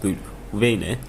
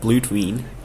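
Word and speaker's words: Blut Vene: Nice finding though, it's pronounced blue Vene, not blue Tween, not blue Dwayne, Vene.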